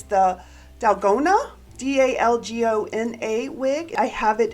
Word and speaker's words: dalgona: make sure i say it right it's the dalgona d-a-l-g-o-n-a wig i have it in a sumptuous